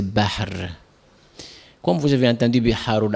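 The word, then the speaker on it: بحر: Muharram, la prononciation en arabe on dit c'est Bahr.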